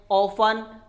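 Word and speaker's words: often: अगर कोई वर्ड है TEN से एंड हो तो वहां पर टी को साइलेंट करते हैं। ऑफन, लिसन, जैसे हम आप सब जानते हैं, हम इन्हें न ऑफ्टन नहीं बोलना, बहुत सारे लोग ऑफ्टन बोलते भी हैं।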